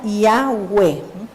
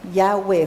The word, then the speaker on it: Yahweh: Yud, Hei, Bab, Hei, que se pronuncia Yahweh, Yahweh, ¿fis?